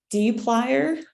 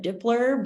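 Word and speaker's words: dplyr: to use the package D plier I call it dippler but I think it's supposed to be pronounced a d plier and um so you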